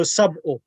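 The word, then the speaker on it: سبع: How do you say 7 Muslim ladies? Sittu. No, sab'u. Sab'u. Okay, sab'u muslimatin.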